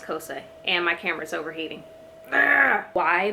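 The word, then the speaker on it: Xhosa: it be and why cosa i think is how you say it and it throws me because it's spelled with an x but i'm fairly certain it's pronounced cosa and my camera's overheating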